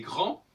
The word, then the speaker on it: grand: Tout comme je dis il est grand, le D s'écrit mais il ne se prononce pas.